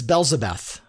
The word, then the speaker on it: Belzebeth: Her name, it's I find myself continuing to pronounce it incorrectly, but it's Belzebeth, Countess Belzebeth, which sounds like